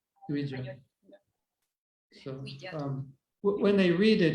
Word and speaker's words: Dvija: It's not Dviha Priya, it's Dvija. Dvija. So when they read it in writing, they'll say Dviha because that's how in Spanish J is pronounced H.